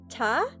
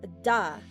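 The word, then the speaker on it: 田: name or the word, this could be pronounced as ta or da. For example, Tanaka, or in the case of another name, Honda.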